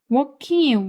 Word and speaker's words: walking: Walking walking 묵음이어서 working이라고 만듭니다.